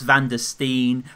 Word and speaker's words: van der Steen: yeah his name is gus van der Steen rhymes with Dutch amputee as like Jackie Chan